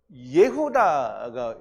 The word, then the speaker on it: 예후다: 유다는 예후다가 이제 본래 발음이죠. 예후다 여호와 야다를 합쳐서 예후다가 되는데요.